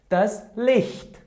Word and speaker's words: Licht: Otherwise, it should be pronounced like weak she. A weak she. For example, here we have Das Licht.